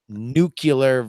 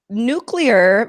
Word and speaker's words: nuclear: not the only person nuclear versus nucular is one of these things where it seems so easy to me